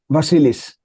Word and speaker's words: Vasilis: yeah, you pronounced perfectly. Vasilis, as you said.